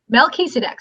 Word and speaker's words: Melchizedek: Melchizedek, so it's Mel, like Mel Gibson. Okay. Keys, like a set of keys, so it's Mel Keys. A deck, like a deck of cards.